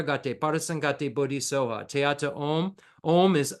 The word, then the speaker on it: Om: Om has three syllables: A U Ma.